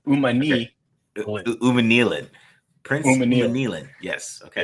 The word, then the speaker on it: Umanmielen: It's Princely Umanmielen. The way I say it is like you got to start it like you fell. Umanmielen.